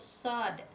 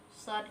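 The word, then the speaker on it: ص: Contoh yang ketiga yaitu huruf sod. Sod itu kalau dieja ada sod, ada alif, ada dal mati. Dal mati ini kita baca sesuai dengan hukum bacaan qalqalah kubra. So-nya, so itu baca 6 harokat.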